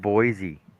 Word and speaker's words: Boise: What about Boise? See, that that's weird, too. Like like you pronounce the E on Boise, but yeah, technically Illinois should be the same as that, right?